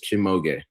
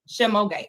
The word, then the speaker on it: Shimoge: It is 3 syllables. Shimoge. Shimoge.